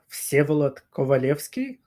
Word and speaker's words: Vsevolod Kovalevskij: name correctly for me so my name is pronounced calot kovaleski and for the short